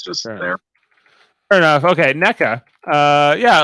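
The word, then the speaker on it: Nneka: I'm feeling better about NECA, who I thought was Neneka, but it turns out I think it's just NECA. If I'm with a silent N on NECA.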